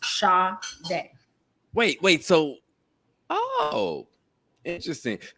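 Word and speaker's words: Sade: to be each other it's supposed to be s-a-d-e but my dad spelled it how he thought you know how it's pronounced shaw day wait wait so oh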